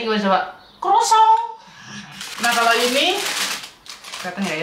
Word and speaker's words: croissant: Nah dibacanya gimana coba? Croissant.